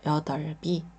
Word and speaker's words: 여덟: 여기서 여덟이라 글자가 나왔습니다 여비 같은 경우는 자 리을 받침은 여기 남아서 소리가 나죠 그리고 비읍 받침은 이응이 왔을 때 여기 넘어가서 소리가나요 그래서 여덟이 자 두 번째 글자는 여덟